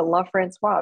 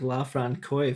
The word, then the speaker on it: LaFrancois: several years we decided to change it to love francois because it is felt that way and it really is should be pronounced that way so that's we i kind